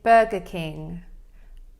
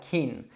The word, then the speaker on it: Burger King: All right, and then furthermore, in the word king, we have another difficult sound. It's that NG. So this is actually a nasal sound that we make in our nose. So you should feel kind of like a vibration there. If you don't really feel anything happening in your nose, then you're probably not saying it correctly. You might end up just saying like keen, but it's not keen.